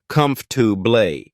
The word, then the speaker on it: comfortable: letter or syllable clearly words like comfortable are often pronounced as comfortu the middle syllable is reduced to make the word easier to say similarly chocolate is usually